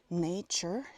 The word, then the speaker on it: nature: Nature es N-A-T-U-R-E. Y se pronuncia como una CH.